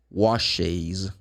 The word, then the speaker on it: washes: So in this case, you add one more syllable because you have sibilant sound. So you say, I wash, you wash, we wash, they wash. But he, she, it washes.